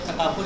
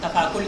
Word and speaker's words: تکافل: تو لغوی اعتبار سے، ورنہ عوام تو اس کا تلفظ بھی ابھی تک نہیں کر سکتے۔ پاکستانی عوام جو ہے بہت سارے کوئی اس کو تفاکل کہتے ہیں، تفاکل، اور کوئی پتہ